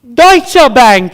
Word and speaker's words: Deutsche Bank: Dish Bank. Deutsche Bank is correct. We will accept pronunciations.